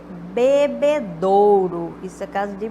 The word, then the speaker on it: bebedouro: pronúncia das pessoas então bebedor por exemplo tanque de bebê do ao invés de Bebedouro Vista casa de pronúncia